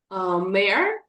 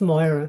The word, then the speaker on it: Moira: Mayor, you are muted. If you could unmute yourself. Hi, it's pronounced Moira, my name.